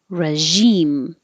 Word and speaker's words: regime: there distributed distributed regime and this requires the which is like sh but with voicing so if you have trouble finding that position make the sh first and then use sound make your voice vibrate regime bearing and the vowel